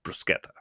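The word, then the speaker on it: bruschetta: always heard as well in Italy it's brusketa so thanks for the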